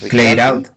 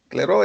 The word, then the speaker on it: Clairaut: fue el nombre de este otro personaje, de Clear Ricat out. ajá, él, Clairaut. Clairaut es la pronunciación.